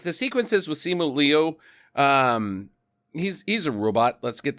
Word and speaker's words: Simu Liu: His name is Simu Lee. Well, that was helpful. Simu. Jackie, I said there's things around Simu Liu.